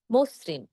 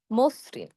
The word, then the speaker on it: মসৃণ: আবার দেখুন যকৃৎ, মসৃণ, এই দুটো শব্দে সেইম আমরা কিন্তু ওকারের মতো উচ্চারণ করছি। কেন উচ্চারণ করছি? শুরুতে রয়েছে জ, জ হলো অধ্বনি। অধ্বনি এর পরে রিকার থাকার কারণে আমাদের অধ্বনি এর সংহৃত উচ্চারণ হবে। আমরা ওকার দিয়ে উচ্চারণ করব যকৃৎ, মসৃণ।